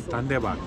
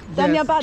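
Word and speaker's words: धन्यवाद: Dhanyabad. Dhanyabad. Danyabad. Danyabad, yes.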